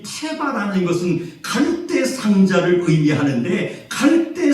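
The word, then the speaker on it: תבה: 놀랍게도 히브리어로 갈대 상자를 어떻게 우리가 발음하느냐면은 따라갑시다. 테바.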